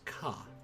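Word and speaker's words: か: up a single syllable you pronounce this as ka let's let's practice writing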